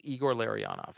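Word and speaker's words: Igor Larionov: I'm sorry I can't pronounce Igor Larenov's name. Call the cops. Yeah. Hold on. Hold on. It's Eigor Larry onoff.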